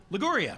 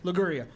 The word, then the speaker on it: Liguria: Brown towards the inside how are we pronouncing that lagoria liguria you're Marrying an Italian you don't know how to say liguria she's offended over here